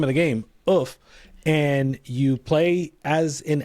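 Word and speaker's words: œuf: to shout out, I don't know how you pronounce this, Bill, you're going to have to help me, Oof, yeah.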